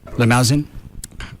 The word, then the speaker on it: Limousin: Anyway, Canadian whiskey and rare cognac casks from the Limosen. Okay. Forest in France. Is it limosen? Doesn't have an e on the end of it. Limousin.